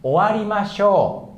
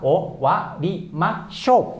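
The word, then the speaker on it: おわりましょう: Oke, jadi cara bacanya owarimashou. Owarimashou ya. Pertama itu mungkin ya satu-satu juga boleh, nggak apa-apa. Owarimashou.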